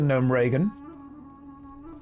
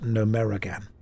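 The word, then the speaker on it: Gnomeregan: You're not following the signs to Nome Reagan. I'm following the signs. I'm immersing myself. Who is Reagan and why do we need to gnome her? That's just what she's into. Don't question. It's pronounced Numeragan.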